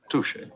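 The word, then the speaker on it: touché: He says touche in French is a word that is pronounced touche.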